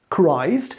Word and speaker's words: Christ: why isn't it christmas no no it's christ but it's christmas and it's christianity you really don't make it easier to learn your language okay but back to